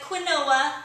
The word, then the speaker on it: quinoa: staple foods is quinoa it's spelled q-u-i-n-o-a looks like quinoa but it's quinoa and i'm going to